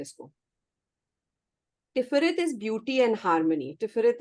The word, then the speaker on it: Tiferet: is actually the sun, which is called Tiferet. TIPHERET. Repeat. TIPHERET. ठीक है? टिफर ET. TIPHERET. मतलब basically टिफरत बोलते हैं इसको. Tiferet is beauty and harmony.